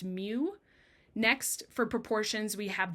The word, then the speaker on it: mu: designated by this symbol right here which is pronounced mu.